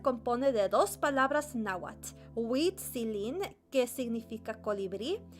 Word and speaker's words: Huitzilin: This is a hard thing to pronounce for me because you have to extend the I. Se me hace un poco difícil pronunciar Huitzilin porque tienen que extender la I.